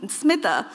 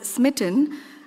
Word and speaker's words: Smitha: away and it's funny my name Smitha it's pronounced so differently in different parts of the world and the worst that I've been called is smitten um in America so when I'm in